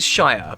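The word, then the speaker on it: -shire: the word Gangstar and sure is a common suffix for a county in england which is basically an area it's often named after the most important city there so you have Yorkshire Cambridgeshire Oxfordshire yeah but that sounds different from Lord of the Rings yeah I know on its own it's Shire but at the end of the word it's sure and you know I'm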